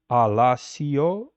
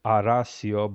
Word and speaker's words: Alasio: for that which is Alasio. As you can see here, it says arasio, but we do know that R and L are indistinguishable and the the pronunciation